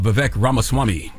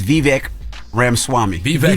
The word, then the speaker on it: Vivek Ramaswamy: two we need uh Vivek ramaswamy did I say his name right I think it's vivec Ram Swami Ram Swami I think that's right we need him to